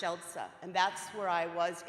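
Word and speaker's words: Siedlce: is shell it's pronounced shelter it's s-i-e-d-l-c-e but pronounced shelsa and that's where I was in the country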